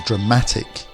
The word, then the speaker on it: dramatic: the middle perfect perfection we have drama drama the stresses at the start of the word whereas dramatic the emphasis is in the middle and finally photograph photograph